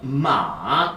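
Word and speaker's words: 马: 말은 리을 빠졌다라고 생각하시면서 마.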